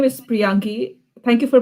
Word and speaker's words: Priyangee: All the way from Henry Street in the library, it is Priyangee. Thank you. My name is Priyangee. Thank you for pronouncing my name perfectly.